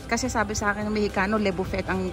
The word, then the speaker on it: Le Buffet: levu levu fet Kasi sabi saakin ng mexicano levu fet ang pronunciation nila eh Hala ang dilim pala dito